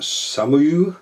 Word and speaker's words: SOMUA: internet so Heller and it's a French house pronounced some of you Sam Sam you s35 41:35 skill box that